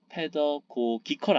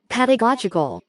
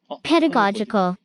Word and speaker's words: pedagogical: 페더고기컬 아닐걸요? 페더고기컬. 페더고기컬. 단어 어렵죠? 교육적이라는 뜻이거든요. 그래도 확실히 발음을 한번. 페더고기컬. 교육적인 뭐라는 뜻이거든요. 다 발음 한번 들어볼까요? pedagogical, pedagogical, 죄송합니다. pedagogical, 페더고기컬 아니었네요.